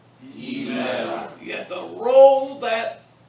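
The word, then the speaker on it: ἡμέρα: Emera. Emera, You have to roll that roll.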